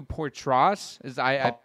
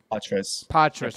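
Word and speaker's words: Poitras: And then you have, how do you pronounce, is it Matthew Portras? Patras.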